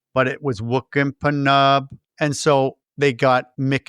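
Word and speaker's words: Pnub: Noob. Is that how how is that what he calls? Noob. No. Pu. What is how they pronounce it? Panub. Panub.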